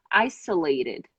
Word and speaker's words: isolated: just I'm gonna say isolated isolated isolated isolated not ISO double s isolated that's the oh no